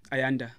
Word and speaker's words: Ayanda: Ayanda.